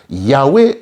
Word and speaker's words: Yahweh: Et c'est pourquoi, dans le tétragramme YHWH, que l'on prononce Yahweh en français, parce que des voyelles y ont été ajoutées pour être à même de prononcer ce nom, il y a 3 temps répartis comme suit.